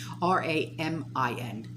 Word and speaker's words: Ramin: So, the Assistant Secretary for Economic and Business Affairs, by the name of Ramin, not the noodle, Ramin, and the last name, I'm not even going to try and pronounce it, it's Toloui.